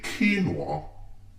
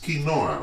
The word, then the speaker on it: quinoa: People who say quinoa, like what is that quinoa? It's quinoa, okay? Quinoa, I'm Perkins, I drink tea, quinoa.